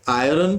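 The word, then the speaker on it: iron: 10 क्या कह रहा है कि आयरन इज, अब जैसे इसका सही जो वो होता है वो तो आयन होता है, लेकिन अपन ठीक है हम भारत में रहते हैं तो प्रोनाउंसिएशन उसके अकॉर्डिंग ही रखेंगे ताकि बच्चों को समझ में आ जाए। नहीं तो आयन बोल दूंगा तो हो सकता है कई लोगों को समझ में ना आए, अदरवाइज जो सही प्रोनाउंसिएशन है उसका वो आयन ही है, ठीक है ना।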